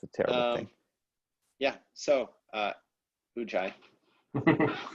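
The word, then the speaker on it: ⲟⲩϫⲁⲓ: Ujai.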